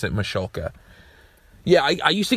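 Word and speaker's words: Michalka: Even though in some of the bumpers the the announcer guy says Machuloka, but they pronounce it Machulka.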